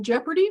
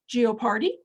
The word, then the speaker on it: Jeopardy: We've got Stuart Wood's Double Jeopardy, which I cannot spell the word Jeopardy correctly, so I keep looking at it and pronouncing it Geopardy.